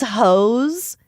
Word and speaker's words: Heaux: Danielle released her first single called These Hoes, but hoes is spelled Heaux.